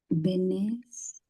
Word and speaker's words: venez: venes, Perfecto. La Z no se pronuncia, pero sí.